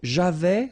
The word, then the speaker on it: j'avais: So j'avais, final S not pronounced.